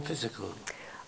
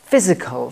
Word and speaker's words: Phizzical: How about Phizzical spelt wrong? And let's spell it P-H-I-Z-Z-I-C-A-L, because that just sounds like fizzy and poppy and just dynamic and colourful and fun.